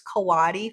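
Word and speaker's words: coati: they're called Kawada Kadi Kawadamundi, I believe, is how you say it, but I guess it's Kawatti for short. So, C O A TI.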